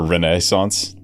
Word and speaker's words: Renaissance: Renaissance the changing up the the the syllable empasis on the wrong syllable for renaissance. Renaissance that's how we pronounce it here. Renaissance. Renaissance. The Renaissance. I think it's R re on that first syllable. I don't know. People say that differently elsewhere.